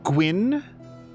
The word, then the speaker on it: Gwyn: Take the GW from Gwen and in the form of Win, and you're pretty much there. So, like, Gwyn?